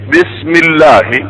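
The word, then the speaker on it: بسم الله: जो हमजा होता है वो पीछे मिलके साइलेंट हो जाता है, पढ़ने में नहीं आता। पढ़ चुके हैं हम। मसलन बिस्मी की बजाय हम क्या पढ़ते हैं? बिस्मी। बिस्मी अल्लाह की बजाय क्या पढ़ते हैं? बिस्मिल्लाह।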